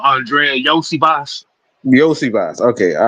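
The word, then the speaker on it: Andrei Iosivas: You say how the hell you say that name again? Oh, Andrea Yosi Boss.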